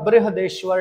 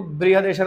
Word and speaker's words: बृहदेश्वर: है इसके बाद करते हैं यह है हमारा बृहदेश्वर टेंपल देखो बृहदेश्वर में आई भी आता है हमारे यहां गुजरात